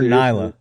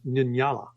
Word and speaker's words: Nyala: Well, the actual I called her Nyla the whole time. Nyala. But the real pronunciation is Nyala, right?